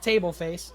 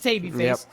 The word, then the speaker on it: Tabyface: It is actually Tabyface. I'm not mispronouncing that. I want to call it Tableface, but it is Tabyface.